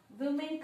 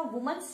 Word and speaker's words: women: या वुमेन का वुमन्स नहीं हुआ, मैन का मैंस नहीं हुआ. Totally the spelling is changed while doing the plural.